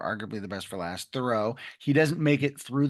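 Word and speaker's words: Thoreau: I Yes, it's thorough. Like I do a thorough job and I had to learn that when I moved here, too.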